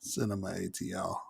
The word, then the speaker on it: CinemATL: on what's going on i know it's spelled cinemato but it's cinema atl but anyway if you want to tweet us you can always get us at cinema atl not cinemato but if